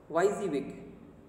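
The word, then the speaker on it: WYSIWYG: technical knowledge okay next yz-week it is written w-i-s-i-w-y-z and it is pronunciated like y z week and what is this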